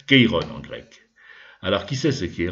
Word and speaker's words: Chiron: personnage important qui s'appelle quiron chiron sont prononcés à la française keyrus alors qui sait ce